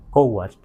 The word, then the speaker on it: cóatl: en muchos textos como Coatl, por eso decimos mucho aquí Quetzalcóatl, pero como pronunciamos, y no porque sea mejor, sino en la Huasteca no es Coatl, sino Co, luego Huatl, Coatl.